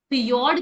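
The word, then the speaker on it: fjord: अर्धना Menk रूप है इसमें जो एफ है वो साइलेंट है इसको कहते हैं फिजो फियोर्ड कह दो फियोर्ड कह दो या फिजो कह दो बात एक ही है ठीक है तो यह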